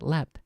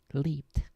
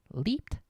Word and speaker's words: leaped: my my instinct is to pronounce it left as if it had a t rather than the Ed which it has here leaped leaped not left John vaulted Over the